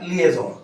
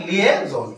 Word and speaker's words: liaison: अब नेक्स्ट है आपका LIAISON, इसको बोलेंगे आप लिएजोन। क्या बोलेंगे आप, लिएजोन।